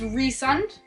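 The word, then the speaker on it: Rhysand: be up to that another name that I struggled with was rund I was pronouncing ryen that's what I was saying in my hand but it's rund and yeah I don't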